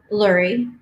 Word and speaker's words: Lurye: How do I pronounce your name? Is? yes. And your last name? Lurye. Lurye.